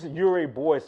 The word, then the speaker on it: Urey Boisey: That's how you pronounce it? Urey Boisey.